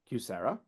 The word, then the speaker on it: QSEHRA: TCJA, QSEHRA, which is pronounced QSERA, ICHRA, which is pronounced